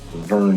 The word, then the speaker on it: Verne: This is Verne, Verne, if you pronounce it like that.